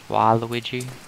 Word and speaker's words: Waluigi: Waluigi. I always pronounce it war, not wah.